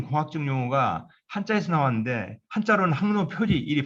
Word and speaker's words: 항로표지: 왜냐하면 그 우리나라의 대부분 공학적 용어가 한자에서 나왔는데 한자로는 항로표지 일이 발음되는데 실제 이제 우리가 어떤 분들은 항로표지를 안 하고 표식이라고 하는 분도 굉장히 많습니다. 왜냐하면 지식할 때 식자로 있는데 항로표지라 읽을 때만 이 식을 지라고 읽습니다.